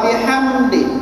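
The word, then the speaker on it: وبحمده: Ya, jadi baca subhana, ulangi subhana rabbiyal, rabbiyal azimi, azimi wa bihamdi, wa bihamdi.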